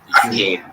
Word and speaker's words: Akeem: That was Akeem. Am I pronouncing that right? Yes, Akeem Shu.